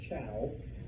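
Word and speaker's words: Zhou: the Chao, and yes, I know it's spelled with a Z and a U, but it's pronounced Chao.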